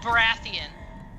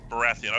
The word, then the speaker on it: Baratheon: straw hats uh super chat how do you pronounce that last name um oh baratheon baratheon okay so uh uh sir straw hat says